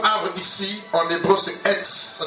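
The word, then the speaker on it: עץ: Alors, pour ceux qui notent, le mot arbre ici, en hébreu, c'est etz. Ça s'écrit E-T-S.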